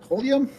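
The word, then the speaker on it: Holmium: I have four chest of uh Holium. That's how you pronounce it.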